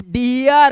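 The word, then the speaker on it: dear: ठीक है, तो इसका उच्चारण अब डीर नहीं है, अब डियर है, डियर।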